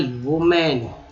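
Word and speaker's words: women: अब ये वीमेन अंग्रेज क्यों पढ़ते हैं, एक्चुअली अंग्रेजी को पता होगा, यहाँ पर WO को V पढ़ा गया है, ठीक है, WO को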